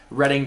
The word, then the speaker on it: Reading: to head over to Reading Terminal which by the way if you're in that area it's definitely called reading but it's spelled reading we had some really